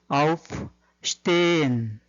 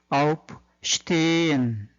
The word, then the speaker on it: aufstehen: aufstehen 이렇게 적습니다. S 뒤에 T가 오면은 S는 슈로 발음이 되죠. 그 다음에 가운데 H는 실제로 발음되지 않고 길게 발음을 해주는 것을 도와줄 뿐입니다. 그래서 일어나다 aufstehen 이렇게 되는 거죠.